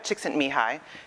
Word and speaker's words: Csikszentmihalyi: was coined by Mihai Csikszentmihalyi yes that is how you pronounce it and he wrote this